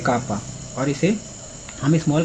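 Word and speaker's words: kappa: और एक क्लेन और गॉर्डन ने एक और कांस्टेंट डिस्क्राइब करा था, इसे हम प्रोनाउंस करते हैं कापा, और इसे हम स्मॉल के से दिखाते हैं।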